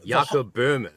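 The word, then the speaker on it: Böhme: of that kind of stuff or however you pronounce it. Yeah. Yeah. Burma. Yakob Burma.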